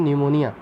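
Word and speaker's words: pneumonia: और जैसे आपने सुना होगा एक डिजीज़ होती है जिसका नाम है न्यूमोनिया, तो वो जो न्यूमोनिया बैक्टीरिया होता है ना, न्यूमोनिया की जो स्टार्टिंग होती है वो P से होती है, न्यूमोनिया।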